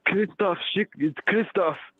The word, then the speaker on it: Christoph: the program hello you you got my name wrong richard oh okay sorry about that got my name the program says chris so um it's christoph well agree to disagree